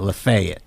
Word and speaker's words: Lafayette: They pronounce it differently in uh Tennessee. They call it Lefayet.